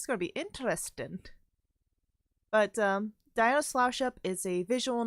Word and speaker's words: Diona: I thought it was Diana's Flower Shop, but it's actually, Diona's Flower Shop, which the only way